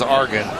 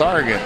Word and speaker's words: Oregon: and Oregon if they're watching this you're completely mispronounced that many beers it's Argan Oregon sorry I say who Oregon it looks